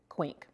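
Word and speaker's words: Quinq: quaint club which is rhymes with wink and it's spelled q-u-i-n-q quink was established in 1974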